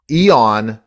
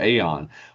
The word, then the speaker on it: eon: And when people look at it with that a uh in the front of it, we all have a tendency to go Aon, but it's eon like I haven't seen you in eons.